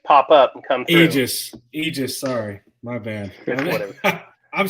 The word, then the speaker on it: Aegis: well thank you and as far as the pronunciation goes Aegis or Aegis are both acceptable um pronunciations of the name we go with Aegis because from what I could tell it was probably the more the old school original type close to the original so I mean the